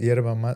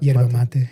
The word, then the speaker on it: yerba mate: Yerba mate? Yerba mate, yeah.